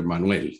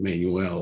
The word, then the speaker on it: Manuel: was great that you pronounced my name in spanish so i was happy after manuel you know rather than manuel or whatever um i want to